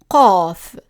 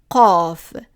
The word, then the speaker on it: ق: So the letter that we see here is the letter Qaaf, Qaaf, and it makes the sound q, q, which is similar to a Q but pronounced in the back of the throat.